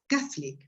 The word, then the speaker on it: Catholic: are omitted that disappear so some words that have three syllables actually when you're pronouncing they they've got two and catholic is one of them because we we use